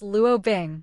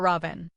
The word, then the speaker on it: Luo Bing: Hello, my name is Luo Bing, not Robin. It's just a matter of pronunciation, Luo Bing explained awkwardly and shook hands with Zhao Hailuan.